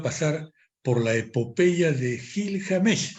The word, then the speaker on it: Gilgamesh: por la epopeya de Gil James está bien pronunciado así es y yo he estado